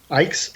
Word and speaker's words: Icke: Ike's? Yeah, Okay, Ike thank like bike.